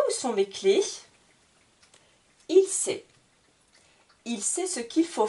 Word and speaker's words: sait: a I se prononcer la dernière lettre qui est une consonne ne se prononce pas la lettre muette donc je ne prononce pas le S ni le T c'est à chaque fois